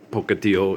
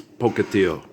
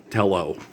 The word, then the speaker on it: Pocatello: and Coeur d'Alene and Pocatello. It's Pocatello. It's a Spanish word. It's Pocatello. It's not tello. We don't say it's two L's in Spanish is pronounced ia. Okay. Pocatello. It's not Pocatello. Okay.